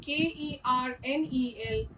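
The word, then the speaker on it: colonel: The set of words C-O-L-O-N-E-L and K-E-R-N-E-L both are pronounced as kernel, but they have very separate meanings.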